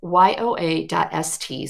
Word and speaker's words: yoa.st: It's yoa.st, so it spells Yoast, /update-June-2025.